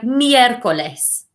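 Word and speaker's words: miércoles: his hats okay so can you say miercoles miercoles and otherwise think of miracles as well as they like a meerkat i don't know why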